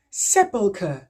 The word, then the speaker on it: sepulchre: Alors, en anglais, ce mot se prononce sepulchre. Sepulchre. Donc, vous voyez que le CHR se prononce que.